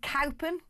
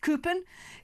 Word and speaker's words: Cowpen: Cowpen, pronounced Coopen.